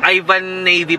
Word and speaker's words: Yvan navY: Ang galing, magaling yung ano nito, Yvan navY pala ang pronunciation doon ng mga papi.